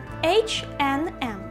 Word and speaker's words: H&M: Але між ними стоїть не три звуки and, а тільки два. H, N, M.